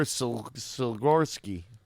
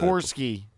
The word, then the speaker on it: Sikorsky: Igor Silorsky. He's a Russian-American aviation pioneer from 1889 to 1972. Silorsky Aircraft. Sikorsky. You just said it. Sikorsky. There's no L in the name Sikorsky.